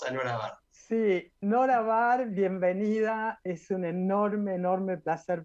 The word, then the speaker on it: Bar: Bar, apellido que en realidad se pronuncia Ber, por lo que me enteré, porque tiene origen alemán. La familia, de todas maneras, lo argentinizó.